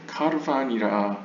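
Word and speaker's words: קרבן: 근데 보통 과거 아슈케나즘, 즉 동유럽 유대인들은 이 카메츠를 그냥 있는 그대로 아로 발음을 하는 경향이 많아서 있는 그대로 읽어서 카르반이라고 읽었습니다. 하지만 오늘날 현대 히브리어나 성서 히브리어 학자들은 다 이것을 코로 읽습니다.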